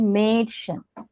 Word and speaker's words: Mädchen: mm, Like for example, a noun, a little girl is said to be Mädchen. mm, Mädchen. mm. Okay, can you pronounce? Mädchen.